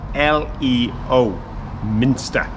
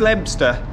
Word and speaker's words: Leominster: we're in Leominster now that is spelled l-e-o Minster so just they see references to Lions here and there because of the Leo but the Leo doesn't come into the way they say it there is no Leominster it's Webster it's full of lovely